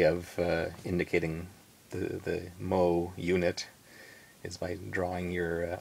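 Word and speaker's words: mho: yet so they used a unit called the mo which is spelled m ho o which if you spell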